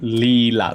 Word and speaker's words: Leelah: Leelah, like Toranga Leelah. Ta-da-ta-da, Leelah. All right, let me just go ahead to profile, edit my profile.